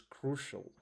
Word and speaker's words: crucial: The second the third word for today is crucial. It's the first syllable is stressed and it's an adjective.